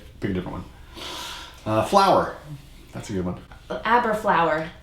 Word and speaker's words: Aberlour: flour that's a given a bur flour it rhymes with hat tower everyone knows what a hat tower is well there I think it was a dr.